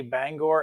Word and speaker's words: Bangor: in a rustic um some guys just pronounce it the bar because of its uh um reporting marks but if you're like me and you grew up not too far from this railroad it is the bangor and a rustic just